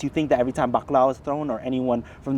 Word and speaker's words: bakla: So I grew up in a large Filipino family where the term bakla, pronounced as bakla, was often tossed around like colonial football.